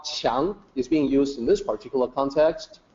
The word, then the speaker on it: 强: First, we have this character, 强. So in pinyin, it's spelled with a Q, and it actually sounds like CH, 强.